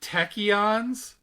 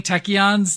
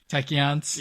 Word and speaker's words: tachyons: boy Rutherford oh what about him does he pronounce it techyons I noticed that I don't think you